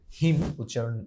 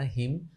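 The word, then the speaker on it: hymn: এছাড়া রাইটিং, হিম, এনের উচ্চারণ হবে না, হিম to adversity and Ode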